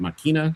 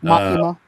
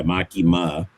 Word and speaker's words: Makima: I love the way that the light is um above is it Makina? Is that how you say her name? Makina? Makima. Yeah, Makima.